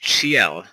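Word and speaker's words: Ciel: like seal like seal Phantom hi but it's pronounced chel yeah F this is going to be interesting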